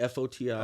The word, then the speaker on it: Foti: My last name's Foti, F-O-T-I. Okay. You know, people are like, how do you say Foti? I say the gang, the ghetto way of. Foti.